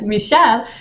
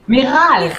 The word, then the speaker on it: Michal: In Israel, I would spell it with CH. But since CH in France is sh sound, right? Michal. She wrote it Miral. I told her my name is not with an R, but she said, yeah, this is how I pronounce your name, Michal.